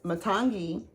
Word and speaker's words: Matangi: But we have to remember that Matangi says, am I pronouncing that right? Yes. Matangi, our energy, is saying it's okay to be different.